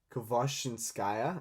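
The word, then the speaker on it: Khvoshchinskaya: Girl by Nadezhda Kvojins- Kvoshinskaya, I think is how you pronounce the surname.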